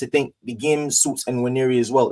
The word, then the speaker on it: Nwaneri: How do you pronounce his last name again? Nwaneri.